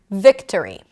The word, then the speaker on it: victory: For example, if we think of the word victory, victory, we have three syllables, victory. The primary stress is vic, vic, vic. The second syllable is a reduced vowel, and therefore we pronounce a schwa there.